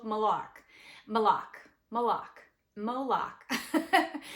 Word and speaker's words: Moloch: I really likeed I really like malar malar malok malok I'm so sorry guys m o l